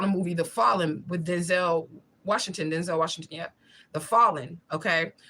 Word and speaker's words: Denzel: Denzel Washington, The Fallen, or Denzel. That's what he said his name is pronounced.